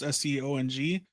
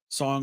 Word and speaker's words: Song: The character is Dr. Ben Song, I think is how it's pronounced, Song.